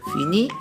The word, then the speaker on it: finis: Alexandre le verbe finir je finis le S à rester muet on ne prononce pas le final tu finis il finit